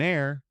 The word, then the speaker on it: heir: An hour, an heir, an honor. We use an because the h is silent.